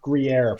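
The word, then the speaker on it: Gruyère: flavors and weird flavors, and people were like Gruyere ice cream, and it's like, well, not. I mean, it's pronounced Gruyere. It's pronounced Gruyere.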